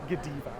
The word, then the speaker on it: Godiva: Comment below how you would pronounce it. The right answer is Godiva.